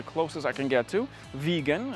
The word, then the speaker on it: Viggen: Viggen, it sounds like vegan, you know, the people that You know the deal, right?